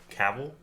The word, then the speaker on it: Cavill: uh his name's Henry Henry Cavill it's how you pronounce his name a lot of people say it differently but he's the guy